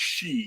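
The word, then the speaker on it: sidhe: of confused me because the word s-i-d-h-i is pronounced she it's old Irish and it concerns the race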